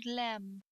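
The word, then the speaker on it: لام: pronunciation of the lamb it's like the letter l in english this is our l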